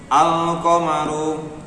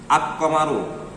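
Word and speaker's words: القَمَرُ: Nah, Al-Qamaru di situ tulisannya dibaca dengan sama seperti tulisannya Al-Qamaru. Al-Qamaru. Ya, jadi bukan Ak-Qamaru.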